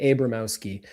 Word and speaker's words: Abramowsky: It's not Abramowsky because it's not close. like abracadabra. Like with a long A, Abramowsky. It sounds better if you say Abramowsky.